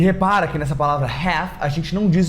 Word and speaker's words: half: Muita gente fala half, half, mas não é half, nem health, é half, half. A mesma pronúncia de calf, é a mesma lógica, half e calf.